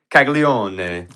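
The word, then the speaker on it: Caglianone: So in Italian, it's pronounced actually Caglione.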